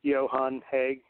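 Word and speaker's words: Johan Hegg: band or singer vocalist Johan heg you know his name starts with a J and it has a y sound but yeah uh am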